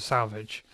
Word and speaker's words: selvage: woven as fabric, and that is called the salvage. It's spelled selvage. I don't know why it's called salvage, but there it is.